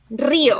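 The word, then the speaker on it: río: You got to roll your R's. Rio.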